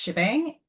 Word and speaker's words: shebang: So as we mentioned that first line is pronounced shebang.